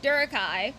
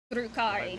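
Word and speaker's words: Drukhari: He talks about the Durkai for about No, that that that that actually that's pronounced Druari. Drukari.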